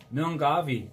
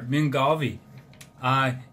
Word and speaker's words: Milngavie: But I'm pretty sure the pronunciation is sort of like this. When Mike Millen gets up, he gives his wife a kiss, so Millen gave his wife a kiss, eh?